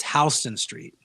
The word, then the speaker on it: Houston Street: And so for New York, it's Houston Street. It's spelled like Houston.